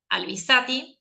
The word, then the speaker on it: Albizati: Así que hemos invitado por intermedio de Diego a Daniela Albizati, así se pronuncia tu apellido, que es la secretaria de Educación, Ambiente e Integración Territorial de la Municipalidad de Alberti.